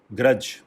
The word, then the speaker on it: grudge: Next is grudge. Simple है ये words, grudge, G-R-U-D-G-E, D silent है इसमें.